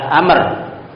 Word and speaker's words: Amr: Kalau setelah ra ada wau maka bacanya adalah Amr. Kalau tidak ada wwunya berarti Umar ya.